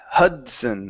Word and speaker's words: Hudson: the word Hudson here instead of H H it's Hudson Hudson combine these sounds the